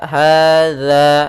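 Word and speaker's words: هذا: harakat di sini dza hadza hati-hati dalam pelafalan dza Bukan dibaca dengan Za tapi dia dza hza kemudian ada Alif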